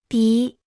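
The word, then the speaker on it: 筆: repita en voz alta pi pi pi pi pi pi pi se pronuncia con el tercer tono la palabra pi en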